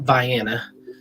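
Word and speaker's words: Vienna: called they call it Viana that's how they pronounce it there but uh VI Ohio um spelled like the classic Austrian City though but um but yeah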